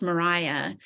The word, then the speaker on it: Maria: it so much that she chose a new middle name which she pronounced Mariah and insisted that people call her Mariah and she so she